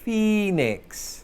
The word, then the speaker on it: phoenix: Means that we pronounce it as E, so phoenix.